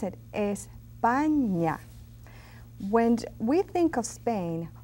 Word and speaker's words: España: And here, this is the way we pronounce it, España.